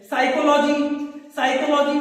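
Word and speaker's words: psychology: साइकोलॉजी में पी से start होती है साइकोलॉजी की स्पेलिंग। साइकोलॉजी को हिंदी में बोलते हैं मनोविज्ञान, PSY से स्टार्ट होती है साइकोलॉजी की स्पेलिंग, लेकिन पी वहां साइलेंट होता है।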